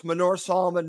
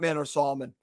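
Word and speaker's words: Manor Solomon: from manure Solomon and that's actually the correct pronunciation it's Menorah Solomon not man or Solomon just wanted to share that with everyone in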